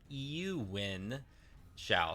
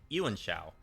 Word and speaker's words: Yuan Shao: I think that this is really pronounced as Yuan Shao. So Yuan Shao.